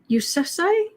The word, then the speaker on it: Yousafzai: Yousafzai? Sorry. Malala. Will she become a leader in Afghanistan in the future? She is quite the messenger, isn't she? Always has been. The first pronunciation was correct.